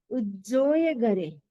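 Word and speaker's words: उज्जोयगरे: उज्जोय गरे, डबल स है, उज्जोय गरे, उज्जोय गरे।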